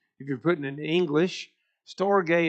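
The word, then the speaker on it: storge: you're putting in English storay is s t o r g the e is a long a sound anyway that's that's a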